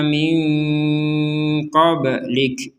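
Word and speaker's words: مِن قَبْلِكَ: Unzila ilaika wa ma unzila min qablik. Ini juga sama, nun sukun bertemu dengan huruf qaf, ini juga samar minko. Jadi jangan langsung dibaca minko atau dibaca jelas minko. Jadi dibacanya min qablik.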